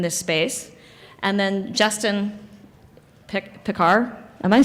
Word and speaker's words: Pickar: And then Justin Pickar.